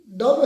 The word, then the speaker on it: dumb: लोग सर की वीडियो का टाइटल है पाकिस्तानी गर्ल्स भी डम है क्या? डम बी साइलेंट है ना, इधर डम भी पड़ेगा जैसे।